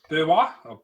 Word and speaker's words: Beerwah: Tourists visiting the Australia Zoo in Beerwah. What? Where? B-W-R-W-A-H. What does it say? Spell it again?